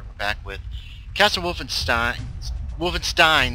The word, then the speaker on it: Wolfenstein: back with Castle Wolfenstein Wolfenstein that's how it's actually pronounced now I have um